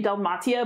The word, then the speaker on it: Dalmatia: english version of that frankly you could say del matia but most people are gonna say dalmatia and i think that is totally fine this would be pronounced